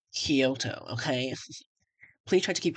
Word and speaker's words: Kyoto: Um actually it's pronounced Kyoto.